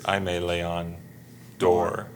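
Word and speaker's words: Aimé Leon Dore: Well, I always mess it up, but I think it's Aime Leon Dor. I always want to say Dore. Dore is because Door.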